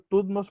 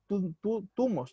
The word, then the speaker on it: Tutmos: Tumos, no, es Tutmos, perdón, es Tutmos II.